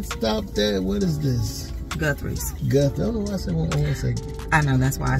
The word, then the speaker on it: Guthrie's: is right we stopped there what is this Guthrie's I know that's why I said it so